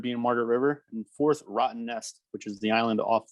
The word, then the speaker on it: Rottnest: Rottnest. Wow. All right. Yeah. That's how you pronounce it.